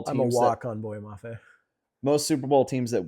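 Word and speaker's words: Boye Mafe: Is that how you pronounce his name? Boy Maffey. Yeah, Boy Maffey.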